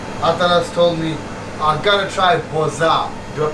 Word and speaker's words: boza: So, this is my brother Atanas told me I'm gonna try boza. Do I pronounce it right? Yes. How do you say boza?